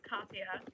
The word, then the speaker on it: Katja: But anyway, so I knew I had a super strong feeling that I was saying the name wrong. I was. Her name was Katja. Like, darn it. Like, it sounds so much different than, like, what it looks like.